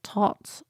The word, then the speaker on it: Thoth: more set up as the Thoth deck, or Thoth, or Tot, or Thoth, or however you want to pronounce it, really.